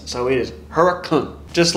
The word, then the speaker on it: Hurricane: of here called hurricane yes it is spelled hurricane but you say that to the locals and they are going to laugh in your face so it is Huracan just like Knoxville is